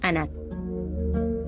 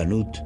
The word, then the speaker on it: Anat: Aquí está la número 1, Anat. La primera se conoce como Anat y su nombre es Sartón. Al-Hattab dijo: la gente común la pronuncia Anut y también se la llama Anati.